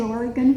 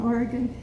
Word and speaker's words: Oregon: can benefit from because they say o-r-y-g-u-n that's how we pronounce it dale would you stand up and say oregon please some people